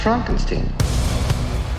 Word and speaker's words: Frankenstein: No, it's pronounced Frankenstein.